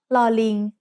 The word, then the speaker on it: ลอลิง: It's called ลอลิง Do you know which animal ling is? It's a monkey. The sound of ลอลิง as an initial consonant is l, like the L in little.